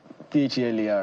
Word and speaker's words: Phelar: And by the way, his own fella is spelled PHELY. So it's LAR. PHELAR. PHELAR.